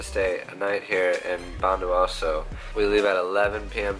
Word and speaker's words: Bondowoso: Bondowoso.